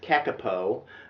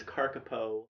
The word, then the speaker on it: kakapo: the best scientific information the carcapo rescue now looks like it says kakapo but actually there's a pronunciation guide in the book that says this is carcapo here's a parrot that